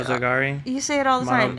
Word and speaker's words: Monogatari: It was just we were all being nice, Mullet went and watched I can't say the Montagari movies. What is it? Category? I don't know either. I can't pronounce it either.